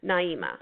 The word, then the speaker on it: Naima: So Naima, there we go. I am writing it phonetically.